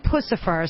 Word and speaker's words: Puscifer: lot of questions as to exactly how to pronounce it I've been saying Puscifer so that is correct correct okay a couple